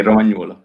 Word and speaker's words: Romagnuolo: Sorry, I'm not pronouncing it. It's okay, Romagnuolo.